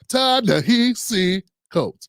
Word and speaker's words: Ta-Nehisi Coates: Ta-Nehisi Coates. I had to like phonetically do his name, you know what I'm saying?